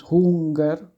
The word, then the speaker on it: Hunger: How you pronounce it is hunger, like yeah, it has to be a bit long.